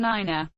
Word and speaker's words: nine: and thousand are used the pronunciation of the digits three four five and nine differs from standard english being pronounced tree four five and niner the digit 3 is